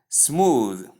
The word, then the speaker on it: smooth: So anytime you are to pronounce the word smooth, understand that it's not pronounced as smooth. You can see the ending sound here, the last sound, the. It is not the. That is theta sound. It's not theta sound. So it's simply the sound. And because of that, the word is pronounced as smooth and not smooth, as most people call it. It is smooth, not smooth.